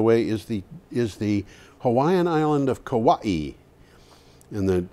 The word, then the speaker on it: Hawaii: the map actually it's Hawaii Hawaii because the W is pronounced like a V stories of kawaii are